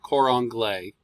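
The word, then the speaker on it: cor anglais: sham from middle ages and the english horn quran glay that's how it's pronounced um it was originally created in around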